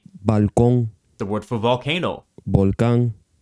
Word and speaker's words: balcón: The N consonant, N, is velarized and pronounced N at the end of words. For example, in the word for balcony, balcón.